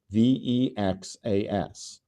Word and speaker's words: VEXAS: call that disease vexus vexas which rhymes with Texas and it is an